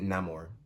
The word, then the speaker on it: Namor: think I always say they say Namor but he pronounces it no more they use a machine